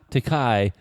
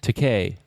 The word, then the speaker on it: Takei: Or William Shatner or it's George LeVar Takei, not Takai, like you've insisted on pronouncing it for 40 years. Takei, like in toupee.